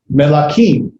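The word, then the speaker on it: מְלָכִים: And so it is with the shavah, it's melakim. And then we see davar.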